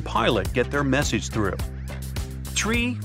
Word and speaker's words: tree: get their message through tree 5 ner nah it's not some Mega secret code it's the way Pilots pronounce certain numbers in their pilot English tree stands for three five for five and